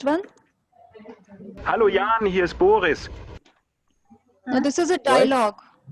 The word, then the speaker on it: Boris: I heard Buges. No, Boris. It's pronounced this way. That is why this exercise is very important, because you have to know how they are pronouncing the R and the other letters.